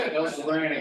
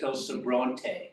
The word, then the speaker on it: El Sobrante: We'll be Moved here, it's El Sobrante. Yes, because they're having the Spanish pronunciation of the leftovers.